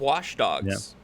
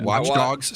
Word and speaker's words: Watch Dogs: Speaking of wash dogs. Uh watch dogs. Say it right.